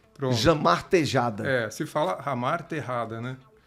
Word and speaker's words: Jamar Tejada: Jamar Tejade. Tá certo isso aí? Não, tá bem errado. Tá bem errado. Como é que pronuncia? Começamos bem, hein? Começamos bem, começou já nem sabendo o nome do entrevistado. Olha, um fã desse não precisa do dois. Jamar Tejade. Não. Também não. É Jamar Tejada.